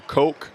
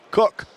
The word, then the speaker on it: Cook: Out of the game, good minutes for Parker Coke Cook, excuse me. Cook.